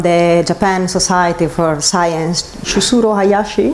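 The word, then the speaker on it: Chushiro Hayashi: The, let's see if I pronounce it correctly, is from the Japan Society for Science, Chusuro Hayashi. Chusuro Hayashi, yeah.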